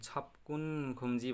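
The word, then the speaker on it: 접근금지: यो फाचिममा ब आए लगति पछाडि क आए पनि क, यो बको यो क, यो ग चाहिँ क उच्चारण हुन्छ, छपकुन खुम्जी है।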